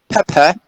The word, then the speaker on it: pepper: So, for example, if we take the word let me think, pepper. Pepper. Right? Yeah, pepper. Pepper. We have a stress, right, on the first syllable. And the second syllable is unstressed.